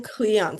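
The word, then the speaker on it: Kleon: Austin Cleon, spelled with a K.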